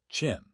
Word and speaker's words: Qin: 771-256 BCA46256 B.CE CE Chin pronounced Chin Dynasty 221-206 B.CE.